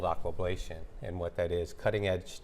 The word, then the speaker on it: aquablation: So we're interested in learning more about, is it pronounced aquablation? Yes, aquablation.